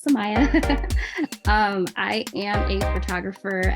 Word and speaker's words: Sahmia: so my name is Samaya I know it's spelled a little weird so most people are like Samia but no it's Samaya um I am a